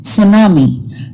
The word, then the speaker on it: tsunami: Tidal or storm waves are also called tsunami, pronounced tsunami, the Japanese name given to them.